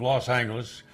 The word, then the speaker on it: Los Angeles: said of the decision the city council took a vote and decided on the official pronunciation of Los Angeles from that moment on would be Los Angeles well I never could